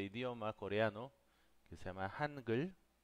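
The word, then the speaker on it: 한글: Hangul. Así es como se escribe y así es como pronuncia.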